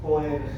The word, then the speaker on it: Boerhaave: Ahí está cómo se escribe, es medio rarito ese nombre, con H y doble A. Boerhaave.